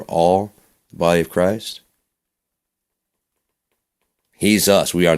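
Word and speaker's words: Jesús: Which is funny because if you pronounce Jesus's name with the H like the Mexican Hispanic people say he's us. Jesus. He's us.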